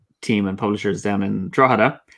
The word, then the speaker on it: Drogheda: and publishers down in Drogheda, which is the correct pronunciation of it for everybody, they published Warhammer Fantasy Roleplaying Game.